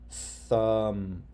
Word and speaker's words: thumb: When there's an M followed by a B, the B is silent. Do you see why? You see the rule? MB, B is silent. Climb, no B sound. Thumb, no B sound, no B sound.